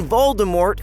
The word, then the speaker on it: Voldemort: twitter back in 2015 the t in voldemort is actually silent she said but i'm